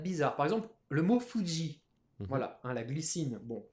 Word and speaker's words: Fuji: Et oui, ça se prononce bien Fuji.